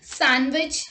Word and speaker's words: sandwich: d rule number one d is not pronounced in the following common words let's look at the examples handkerchief wednesday sandwich handsome let's look at